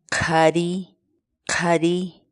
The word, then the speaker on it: qhariy qhariy: de vídeos en la que te enseñamos a pronunciar algunas palabras en quechua así que nuestra palabra del día por hoy es cari cari cari cari cari cari la palabra quechua heart